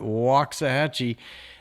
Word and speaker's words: Waxahachie: We call it Waxahhatchee.